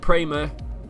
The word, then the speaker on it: Prema: can't pronounce idiot if my course prema that is how you pronounce it all the team that